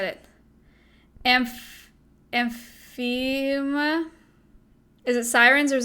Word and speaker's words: Amphiuma: Amphima? Is it sirens or is it hellbenders? How do you pronounce that? We literally talked about it on the podcast. Is it the... Amphiuma.